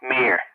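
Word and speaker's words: Meir: was gold Amir yeah that's what I said gold on my ear that's how I always hear it pronounced uh yeah no no no they call it golden ear mere beer oh okay potatoes potatoes but uh thank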